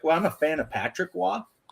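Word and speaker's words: Patrick Roy: And for Patrick Wah, they just wrote WA.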